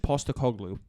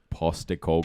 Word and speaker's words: Postecoglou: Ange Postecoglou. Postecoglou.